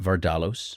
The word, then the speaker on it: Vardalos: Did I say it right, Vardalos?